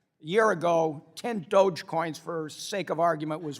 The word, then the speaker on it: Dogecoin: which a year ago, is it Dogecoin or Dogecoin? Dogecoin. All right, I have 10 Dogecoins, all right? A year ago, 10 Dogecoins, for sake of argument, was worth $1,000, so $100 a coin.